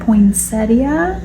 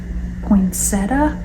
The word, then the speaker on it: poinsettia: Obviously, the poinsettia. You can say poinsettia or you can say poinsetta.